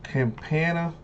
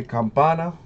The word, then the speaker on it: Campana: Campana. Or I should say Campana. Pirates. Put that little Spanish accent on there.